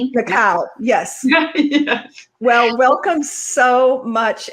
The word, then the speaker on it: Nakao: Am I pronouncing your name right, Nakaho? Nakao. Nakao. Yes, I'm Japanese, so that's a Japanese name. Nakao, yes.